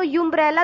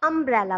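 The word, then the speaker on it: umbrella: से स्टार्ट हुई ना, लेकिन हम उसको यूम्ब्रेला तो पढ़ते नहीं, उसको हम अम्ब्रेला पढ़ते हैं, आ।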